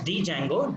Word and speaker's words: Django: Some people call it as Django, D is silent.